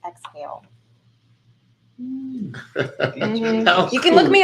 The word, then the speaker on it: XAEL: XAEL, pronounced exhale.